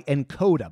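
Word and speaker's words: nkoda: This episode is brought to you by Encoda. By the way, that's spelled N-K-O-D-A.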